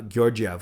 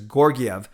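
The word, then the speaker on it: Georgiev: put it behind uh gyorgyov or giorgi i've i've heard it as your gf earlier today but then i think uh john shorthouse was mentioning as hard g says gorgiev regardless it beat the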